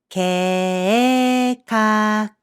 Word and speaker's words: 計画: You pronounce this word 計画計画 Again, the vowel sequence AE here becomes AA in pronunciation. And this hiragana I is pronounced as E.